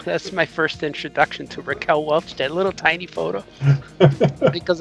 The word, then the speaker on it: Raquel Welch: to spell it and i remember calling her reckler reckler and i asked my mom or dad how do you say that no that's raquel welch and then i realized